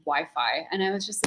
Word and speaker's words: Wi-Fi: give me the phone the whiffy here is terrible Mom it's pronounced Wi-Fi and I was just